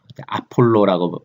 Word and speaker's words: 아볼로: 바울이 떠나고 난 다음에 그 에베소에는 아폴로라고 발음하죠. 아볼로가 그곳에 방문하여서 한동안 브리스길라와 아굴라와 더불어서 말씀을 가르치고 사역했던 그런 흔적이 남아 있습니다.